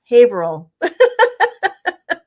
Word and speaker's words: Haverhill: The H is silent. The second H is silent. Haverhill.